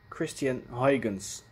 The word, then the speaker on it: Christiaan Huygens: Somebody has asked me to explain the pronunciation of the name Christiaan Huygens, which I think is how you will pronounce it in English.